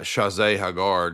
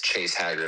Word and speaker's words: Chase Haggard: No, it's Chase Haggard.